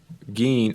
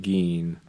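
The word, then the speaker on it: Gin: we get is um gain I think it's I think they pronounce it Gene I want to say because I remember thinking it was like a strange pronunciation but gain shows up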